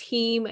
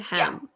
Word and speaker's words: heme: There's heme and non-heme. Am I saying that right, or is it hem? Yeah, it's heme. Okay. It's heme.